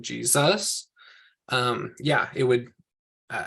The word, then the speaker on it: Jesus: the end what about the name Jesus because Jesus is sort of a stress at the beginning would we put a